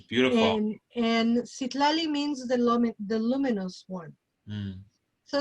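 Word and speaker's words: Citlali: you put it lali there uh there's a pronunciation see lali that's how you pronounce it it's beautiful and and sit lali means the luminous one so it's closer to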